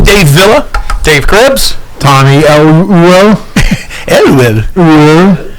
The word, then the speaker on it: Elwell: Tommy Elwell. Elwell. Tommy. Tommy. It rhymes with mule.